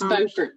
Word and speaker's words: Beaufort: The first thing I need to check is whether it's pronounced Beaufort or Beaufort, North Carolina. It's Beaufort.